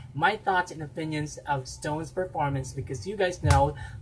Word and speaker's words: SixTONES: Okay, we don't pronounce it as SixTONES, right? It's Stones.